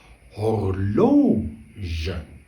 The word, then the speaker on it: horloge: Horloge.